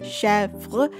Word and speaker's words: Chevre: then we have V-R-E, Chevre, and the first syllable of the name is probably the most accented syllable, with the end of the name, the vre, syllable at the end being the unstressed syllable.